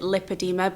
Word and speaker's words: lipedema: know what lipedema is I pronounce it lipedema some people pronounce it lip adeema but it is the same thing I'm going to leave